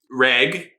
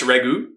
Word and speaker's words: Reg: that she doesn't see reg sorry I do know I've been mispronouncing the name it is or sorry it's Ragu Ragu oh that's gonna be